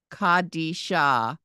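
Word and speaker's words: קדישא: end at the end c d sha kadisha with a silent Olive on the end and line five Dean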